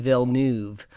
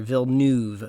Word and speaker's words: Villeneuve: I just did a Google of how to pronounce, and it's Denis Villeneuve or Villeneuve.